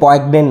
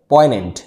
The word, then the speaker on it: poignant: পয়েনেন্ট, দেখো POIGNANT, এর উচ্চারণ পয়েগনেন্ট নয়, পয়েনেন্ট।